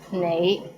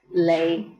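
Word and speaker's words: 你: is the word you the right way to pronounce it is nay but in Hong Kong many people pronounce it as leay how was it pretty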